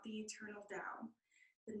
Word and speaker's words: Tao: but in the ancient chinese text it is dao and yes it is spelled t-a-o pronounced so it's be like um